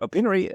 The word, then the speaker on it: Opinary: company openery oh innery like opinion not that penery okay so it's o-p-i-n-a-r-y opinary so thanks for being